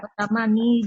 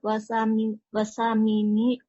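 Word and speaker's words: ثماني: Al-ana sa'atul hadiyata asrota wasamini daqaiqa. Wasamani gitu. Wasamani daqaiqa. Laila. Jamin. Hasan. Al-ana sa'atul hadiyata asyrata wasamani. Nah, munculkan ya-nya ya ummahat ya. Karena asalnya samaniyatu begini, ketika jadi muzakkar kita jadikan wasamani gini.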